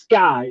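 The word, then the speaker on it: SCCY: of things to buy apparently the s-c-c-y is pronounced sky and i've been saying s-c-c-y forever i did not know it was pronounced sky the uh video that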